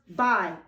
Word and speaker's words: by: And then at the bottom, you're going to write the words by, B-Y. It rhymes with my, B-I. Sometimes the Y makes an I sound at the end of the word.